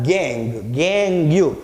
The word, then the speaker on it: gangue: is called as a gangue. It's not gangue, it's gang. Okay, don't pronounce it gangue. The spelling is Gangue, but the pronunciation is gang.